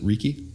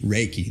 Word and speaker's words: Reiki: ask you about with I don't want to mispronounce it Ricky Ricky Ricky Reiki thank you I always mispronounce it you know